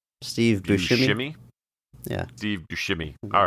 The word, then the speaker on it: Buscemi: the career of Steve Buscemi. Steve Buscemi. I suddenly forgot how to say his name. But, I think it's a shimmy, like a light dance. Steve Buscemi.